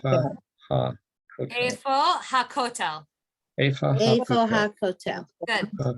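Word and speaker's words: הכותל: And the kotel is Ha kotel.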